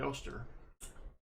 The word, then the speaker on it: Oster: For teacher, we have a 64, a 61 Benji, a 66 40%er, and the DD Oster. Rhymes with toaster.